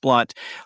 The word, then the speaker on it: Blount: And my last name is spelled Blount, although it's pronounced Blunt.